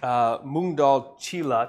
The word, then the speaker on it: moong dal cheela: research from it because I knew I was gonna butcher the name but it's moong dal cheela so Chile's the actual